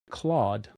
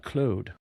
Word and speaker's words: Claude: But she also says as a Canadian, she wants our to know she pronounces it Claude, not Clude.